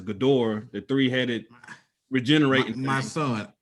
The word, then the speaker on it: Ghidorah: up to Monster Zero, which is I believe you pronounce it as Ghidorah, the three-headed regenerating.